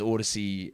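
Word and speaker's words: Audacy: which when i get the copy for those odyssey reads they tell me it's pronounced uh i'll just read it as odyssey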